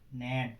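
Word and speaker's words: gnaw: नियम नंबर 2, जब किसी वर्ड की शुरुआत जी से हो और उसके तुरंत बाद एन आए तो जी का उच्चारण नहीं होता है। जैसे नैस, नैस माने पीसना, नेट माने कुतरना, नॉम माने कहावत।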